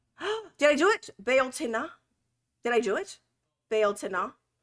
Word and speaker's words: Bealtaine: Oh, Bealtaine. Did I do it? Bealtaine. Did I do it? Bealtaine. Hopefully I did. That sounds good. It's not teen, it's tin.